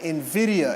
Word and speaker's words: Nvidia: Uh but Nvidia, everyone say Nvidia. Nvidia. Yeah, Nvidia is spelled Nvia.